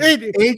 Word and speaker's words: Haglund: Hagland. It's pronounced exactly the way it's spelled.